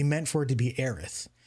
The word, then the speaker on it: Aerith: You're literally pronouncing, see, Aerith and Eris, there's leeway to have that debate because even though objectively the correct way to say it is Aerith, at the end of the day, Aerith sounds like shit.